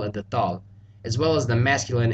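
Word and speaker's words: ذال: Now, the pronunciations for dal and thal are very similar. Dal is a D sound, where thal is like a TH sound pronounced more like a D.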